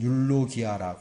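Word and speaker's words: εὐλογία: 어떻게 나타나는가 여기 보면 발음은 율로기아 이렇게 기록이 되어 있습니다 뭐 영문으로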